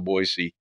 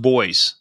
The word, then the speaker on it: Boise: called Meridian which is just right next to boisey then now they're kind of disconnected but there